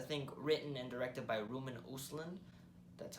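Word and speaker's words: Ruben Östlund: film is I think written and directed by Roman usland that's how you pronounce his name who directed the film play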